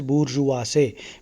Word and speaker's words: bourgeoisie: Middle class, the word is bourgeoisie. Bourgeoisie. Bourgeoisie. That is how it is pronounced.